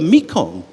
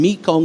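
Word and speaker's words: Mun: are transformed the the river Mong gets its name Mong is just the chimar pronunciation of manga Mong the the rivers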